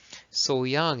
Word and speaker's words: Soyang: Soyang is the Korean pronunciation of Shaoyang.